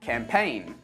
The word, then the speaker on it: campaign: Let's move on to the letter G, and we don't pronounce this letter in words like campaign, assign, design, sign, reign.